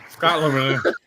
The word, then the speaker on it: Scotland: I spelled it wrong. Technically, that's Scotland. Scotland. The B is silent, bro.